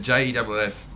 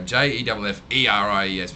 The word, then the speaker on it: Jefferies: At least it's pronounced exactly the same, and everything's the same. But now instead of JEFFRIES, which is the original spelling, I go JEFFERIES, which looks a bit more mongy than the other way.